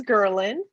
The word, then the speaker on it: Girlin: So my name is Girlin, pronounced like girl, Lynn.